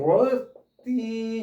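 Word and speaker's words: worthy: 귀족 귀족 그러니까 어 영어는 워디 정도 됩니다. 워리 th가 유성음인데이 발언 d 월리 워디 이렇게 발음합시다.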